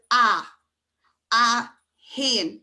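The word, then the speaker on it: a haon: But when you're counting, you start with a Hain. It has to be aspirated because you can't have the two vowels together. So think of like in English, a apple or a octopus. It becomes an octopus or an apple. That's what that H is for.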